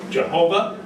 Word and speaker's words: Jehovah: And that's where you get Jehovah, or another pronunciation suggested is Yahweh.